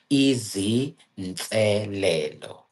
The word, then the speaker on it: izinselelo: So how you pronounce it is Easy Nselelo.